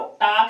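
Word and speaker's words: talk: टाक में जो एल है वो साइलेंट वर्ड है। उसे पढ़ा नहीं जाता है। सिर्फ टाक को पढ़ा जाता है।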